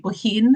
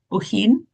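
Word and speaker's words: Bohinj: We then went back to the Triglaf National Park that's up here again be behind Lake Boin. It's pronounced Bohin.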